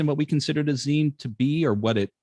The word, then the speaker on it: zine: The one thing that we can clearly agree upon in regards to zines and what they are and how they're represented is the proper pronunciation is zine.